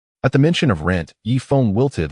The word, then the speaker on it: Yifeng: Hey, Yifeng, it's Yifeng. Please pronounce it correctly.